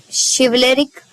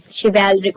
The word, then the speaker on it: chivalric: They pace in sleek, chivalric certainty. Means chivalric होगा, sorry मैंने गलत प्रोनाउंस कर दिया, chivalric certainty. So जो आर्ट जेनिफर की